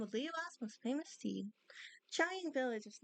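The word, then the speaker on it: Qiaoying: About Chiyong Village.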